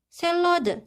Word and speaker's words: 샐러드: 샐러드. Nah, di sini kan bacim realnya, terus di depan realnya ini kan ada huruf konsonan yaitu real juga. Jadi kita bacanya ini sebagai L.